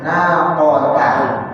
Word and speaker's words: ناقة: Lalu berikutnya naqatallah bukan naqatallah. Naqata. Ta dulu bukan to. Naqatallah.